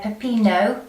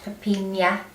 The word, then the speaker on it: pepino: the cucumbers and apologies they're pepino not papinia and without the accent on the end so apologies for that